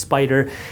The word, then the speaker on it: SPDR: SPDR is pronounced Spider.